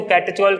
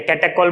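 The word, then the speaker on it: catechol: अब अगर बेंजीन पे 2 OH है तो ऑर्थो पोजीशन पे जब है तो उसको कैटेचोल कहते हैं, या कैटेकोल बोल सकते हो, ठीक है।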